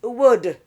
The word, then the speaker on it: would: There are two sounds we must not pronounce. The oo and the L sound are out. The oo is O. So COULD is could. And WOULD is would.